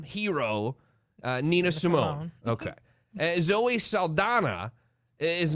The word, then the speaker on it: Saldana: But also, we're going to talk about Zoe Saldana.